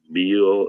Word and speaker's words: meal: and it's pronounced Mi so there's actually two syllables there together me and then y